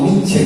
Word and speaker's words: Nietzsche: Sí, son unos amigos que insisten porque no me gusta pronunciar esa final, pero realmente en el alemán la E final sí va ahí.